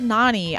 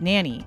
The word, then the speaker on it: Nani: So, like, it's not pronounced Nanny. It's Nani.